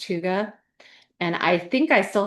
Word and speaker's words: hygge: It's spelled Hyggge, but it's pronounced hygge.